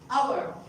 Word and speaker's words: hour: We never say honor. It's honor. Hour. So H is silent.